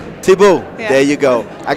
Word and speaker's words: Thibault: Thibault.